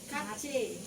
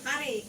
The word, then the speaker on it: kari: How do you say it in Bahasa? What is name? Kachi. Kachi. No, kari. Curry.